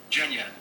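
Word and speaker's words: Genya: open it there's Gia the pronunciation of this word is sounds like jna this is where we meet Jenna she walks in and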